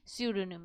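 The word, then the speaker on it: pseudonym: उसको क्या बोलते हैं हम सूडो निम यहां पे पी क्या बोलते हैं पी यहां पे साइलेंट होता है जब हम प्र प्रोनंसिएशन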